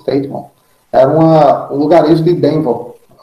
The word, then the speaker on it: Teignmouth: Então ele foi para Teignmouth, acho que é essa a pronúncia, Teignmouth.